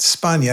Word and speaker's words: Spagna: Now, that's pronounced Spana. I think you're Italian, right? Yes. Like lasagna.